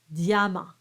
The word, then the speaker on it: diamant: But in this case, you treat it as a consonant, as a y sound. Dia, diamant.